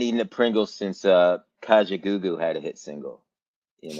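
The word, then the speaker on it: Kajagoogoo: Yes, it is Kajaoo, bro. What the far? Is that how you pronounce it? Kajaoo.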